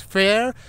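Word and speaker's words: Faer: how to pronounce it fear is not the wide rate it's fair fair fair something like this but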